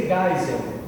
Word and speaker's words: Geisel: Castelo Branco foi o primeiro presidente, depois Costa e Silva, depois Médici, depois Geisel, gente, se lê Geisel, certo?